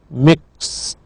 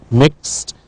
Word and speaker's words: mixed: the next word is the verb mix past tense with Ed is pronounced mixed mixed so you should know